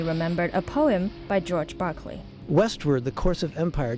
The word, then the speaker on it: Berkeley: Inspired by Berkeley's project to set up higher education institutions in America, Billings and his fellow trustees decided to name the area after him, but pronounced in American fashion, Berkeley.